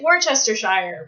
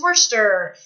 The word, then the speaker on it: Worcester: It looks like Worcestershire, but it's Worcester.